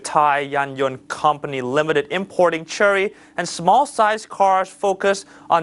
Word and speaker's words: Chery: Chery is the sole distributor for the car, which you could pronounce it Chery. This is the pronunciation in Chinese.